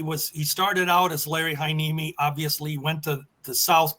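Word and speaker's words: Larry Heiniemi: Well, but uh I they sure butchered Larry Haneimi's name. I don't know what the hell they said. It was hang on or something, you know, but it's Larry Haneimi.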